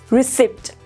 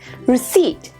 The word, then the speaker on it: receipt: is debt number four receipt no my dear students it is receipt p becomes silent and the last one